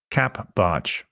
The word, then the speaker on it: capbartsch: You can follow me on Twitter by using the Twitter handle capbarge. It's spelled CAPBARTSCH.